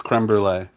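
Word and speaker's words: crème brûlée: Did I misspell it in the title? It's creme brulee.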